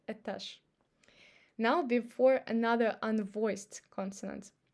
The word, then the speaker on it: этаж: And now we say друг, обед и этаж. Now before another unvoiced consonant. Ложка, водка и лавка. As you see, we don't say ложка. So we pronounce sh instead of zh because of k.